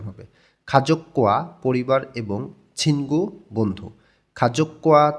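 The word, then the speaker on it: 가족과: যখন আবার গিয়ক আসে তখন দুইটাই কয় ক উচ্চারণ হবে খাজক্কোয়া পরিবার এবং ছিনগু বন্ধু খাজকুয়া ছিনগু পরিবার এবং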